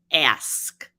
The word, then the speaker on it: ask: example of the word ask that word is frequently mispronounced it's spelled a-s-k and it's pronounced a-s-k but we've all heard